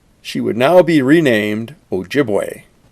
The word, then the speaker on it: Ojibway: now be renamed ojibwe i know some people call it ojibwa but i come from saginaw michigan and was raised having picnics on what we always called ojibwe island so that's the way i'll pronounce it here we see her